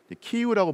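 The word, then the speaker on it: 키이우: 나 9세기 쯤 이었죠 예전에는 100 키에프 라고 불렸던 도시 그러다가 요즘에는 루크 라이너 발음을 존중해서 키우라고 불러주는데 익히 우가 가장 중심이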